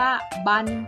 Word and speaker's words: บรร: หัน เอง ค่ะ ซึ่ง เจ้า บรหาร นั้น จะ อ่าน ออก เสียง ว่า บัน ค่า สำหรับ คำ บาง ที่